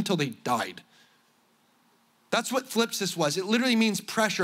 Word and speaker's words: thlipsis: Now, that word trouble or tribulation or trial, that word in the Greek language is the word thlipsis. It just sounds fun to phonetically to say. Everybody say thlipsis.